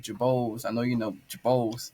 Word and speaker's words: Girbaud: yeah how you say Jabo is the French way to say it prounce jao is the